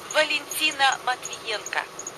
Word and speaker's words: Valentina Matvienko: Will you pronounce her name again? Valentina Matvienko.